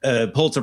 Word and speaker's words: Pulitzer: You know, the ESPN report looks like the NBA's, like the report basically said, oh my goodness, despite Pulitzer Prize winning, see, I pronounced it correctly, podcast Thank you.